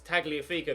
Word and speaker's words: Tagliafico: sadly I think no it's the Argentinian it's tagliafico that's the isn't it because he's Argentinean even though he's playing in Italy so he's a soft G so it specially in